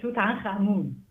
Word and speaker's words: Tutankhamun: I pronounce it Tutankhamun.